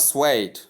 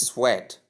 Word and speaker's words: suede: Wrong pronunciation is sweat. Note the difference between the word I mean the pronunciation suede and sweat. Swed and sweat. This is a diff thong here.